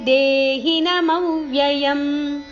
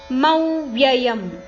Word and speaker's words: ದೇಹಿನಮವ್ಯಯಂ: ಸಂಭವಾಹ ನಿಬಜ್ಞಂತಿ ಮಹಾಬಾಹೋ ನಿಬದ್ನಂತಿ ಧ ನಿಬದ್ನಂತಿ ಮಹಾಬಾಹೋ ದೇಹೆ ದೇಹಿನಮವ್ಯಯಂ ಮವ್ಯಯಂ ಮವ್ಯಂ ಅಲ್ಲ ಮವ್ಯಯಂ ಎರಡು ಯ ಇದೆ ಅದರಲ್ಲಿ ದೇಹ